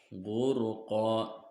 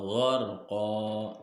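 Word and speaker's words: غرقا: Huruf ro-nya dibacanya tafhim. Tafhim itu alias tebal dibacanya. Dan surah An-Nazi'at ini terjadi sebab huruf ro disukun oleh fathah. Ro-nya sukun oleh fathah, maka ro-nya dibacanya tebal.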